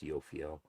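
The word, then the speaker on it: Jophiel: He says, "I conjured the Jupiterian planet, planetary intelligent Yofiel, spelled Joffel, but pronounced Yofiel, who arrived immediately at the end of his conjuration."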